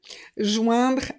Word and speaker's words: joindre: On a les verbes en oindre, ouin, nasal, joindre, adjoindre, rejoindre et enjoindre.